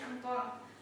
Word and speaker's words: Antoine: Nah, jadi yang pertama itu ada sistem periodik dari Antoine, pokoknya dibacanya biasanya Anton Lavoisier.